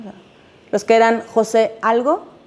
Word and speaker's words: José: María siempre lleva acento, el José siempre lleva acento, eh, porque luego se pronuncia José, ¿no?